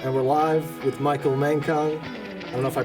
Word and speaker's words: Mankong: right, so 3, 2, 1, and we're live with Michael Mankong. I don't know if I pronounced that right, but that's correct.